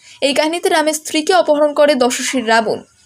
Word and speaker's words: রাম: ভিন্নতা দেখাতে পাওয়া যায় তারা উচ্চারণ করেন ল এর মতো সেই কারণে মাপিলা রামায়ণের মুখ্য চরিত্রের নাম লামা এবং খল নায়কের নাম সুলতান লাভন এই কাহিনীতে শুধু রাম